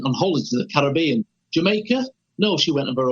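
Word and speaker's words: D'yer Mak'er: out in the u.s people were referring to as dire maker diamaka was another one you know and planting he had to explain ins really once and he said i can't believe i'm having to explain this but it's jamaica it's it's from that word play of the country jamaican did you make it but that's where that comes from it was they must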